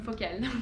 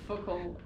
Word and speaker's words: Focal: I'm Megan from Focal. There you go. That's how you say it, by the way. Yeah, Focal. Focal. People say Focal.